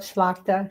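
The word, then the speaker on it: Tlachtga: The the goddess you just talked about, Schlakta. Can you spell that for everybody? And I'll stick it here. Sure. It's uh, it does not relate at all to the way it's pronounced.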